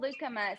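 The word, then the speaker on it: lucuma: in the site okay it's called leucoma so it's l-u-c-u-m-a now you use c-u-m-a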